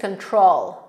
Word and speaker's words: control: I lose control. I lose control. Control. Ten akcent jest na drugą sylabę.